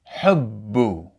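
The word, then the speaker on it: حُبُّ: So, if we read this word from the Quran, it would be pronounced hubbu.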